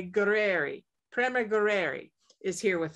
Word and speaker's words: Gurreri: great really Grandma gueri we need to think Italian think Italian gueri I have a dear friend that just went to Italy so I can use that channeled energy to properly say gueri Prem gueri is here